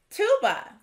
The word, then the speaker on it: tuba: Tuba. Does tuba have the swa sound at the beginning or the end? Tuba has the swa sound at the end.